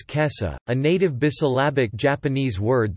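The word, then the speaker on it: 今朝: Instead it is read as kesa, a native bisyllabic Japanese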